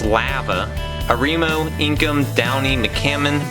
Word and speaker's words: Lava: lava hot springs which the locals pronounce lava a Remo inkum downing